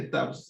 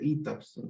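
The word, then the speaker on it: ETABS: Alguna vez uno de los alumnos me corrigió, "Profe, no se dice tabs, se dice ETAPS."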